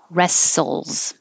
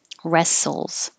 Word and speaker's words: wrestles: with a w but we don't say the w it just sounds like r rests wrestles wrestles meet up the t